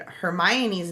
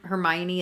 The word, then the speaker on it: Hermione: I feel like that's that like the way that Her- Hermione is spelled in my head I would have also read it as Hermoin.